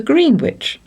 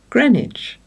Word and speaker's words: Greenwich: When in London, we often hear tourists very sensibly asking for boat tickets to Greenwich. It must be quite bewildering for them when they are told that it is pronounced Greenwich.